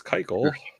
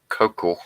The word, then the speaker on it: Keuchel: Hey, Dallas Keuchel. Keuchel. I can never say his name right. I want to put the sh in there.